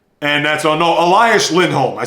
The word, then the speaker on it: Elias Lindholm: Of course, they had some guys leave and one Jake DeBrusk, but they also brought people back like Linus Endholm.